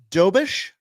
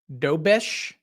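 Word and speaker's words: Dobeš: Can you pronounce his name again? Because it was so good. Dobish. Dobish.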